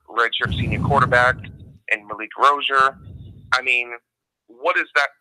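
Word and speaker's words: Rosier: I think it's very clear cut that it would be different if Malik Rozier, and I'll pronounce his name correctly, it's Rozier, but it's a hard habit to break.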